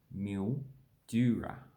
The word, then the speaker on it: Mildura: And this is Mildura. So a mill, as in a mill, somewhere that makes flour. Dura, like durum wheat, Mildura. Then is, I believe that